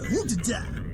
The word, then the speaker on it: Junta: Last I heard, he was at the Junta in Vespucci. Wow, I'm surprised they pronounced Junta correctly.